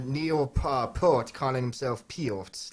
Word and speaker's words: Peart: He according to him, it was Peart is how you pronounce his name.